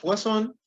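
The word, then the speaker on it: Poisson: que conocemos como razón se escribe poison pero se dice razón y en este caso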